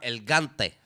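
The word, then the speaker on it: L-Gante: el tema se es que el nombre del se escribe una l gigante y diego se llama el cante que también hace flow el cante como el cartel devuelto lógico el gante familia argentina perdonen los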